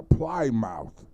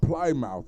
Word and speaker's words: Plymouth: you talking no oh plymouth rock right not play mouth rock fell on us what's